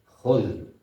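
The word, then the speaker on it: خذ: Khul pakai zal, zal, khul.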